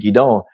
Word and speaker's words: Gideon: the stream yah had Gideon or gidon is proper pronunciation of his name gidon take those men and